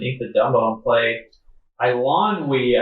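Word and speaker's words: Eilonwy: I lon we, I believe is how you say it. I think it's Ilonwy. I finally got it.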